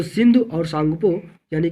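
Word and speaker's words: Tsangpo: तो ये STSZ है, यानी कि इसको बोला जाता है सिंग सांगपो स्विचर जोन। तो ये जो टी है ना, टी जो है ये साइलेंट होता है, इसको सांगपो बोला जाता है, सांगपो।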